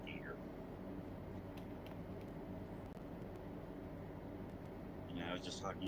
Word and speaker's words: Giger: Geiger. Now they say it's Giger, but it's spelled like Geiger. Giger. Hmm. I should say, according to himself, it's pronounced Giger.